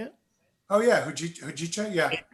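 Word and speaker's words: hojicha: Oh yeah, Hujicha, yeah.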